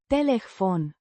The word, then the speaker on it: telefon: Pronounced Telefon. with the stress on the second syllable.